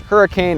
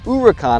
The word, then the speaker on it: Huracán: Looks like it should be pronounced Hurricane or Huracan. It's actually pronounced Huracan according to Lamborghini.